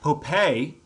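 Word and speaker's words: Popé: Santa Fe New Mexico popei and it's spelled a couple ways sometimes it's spelled like Pope with a little tilde over the E sometimes it's spelled p-o apostrophe p-a-y you can see it you'll see it spelled two different ways in different sources he has a statue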